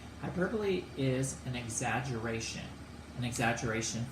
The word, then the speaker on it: hyperbole: is hyperbole it's spelled like hyperbole but it's pronounced hyperbole hyperbole is an exaggeration an exaggeration for emphasis nobody's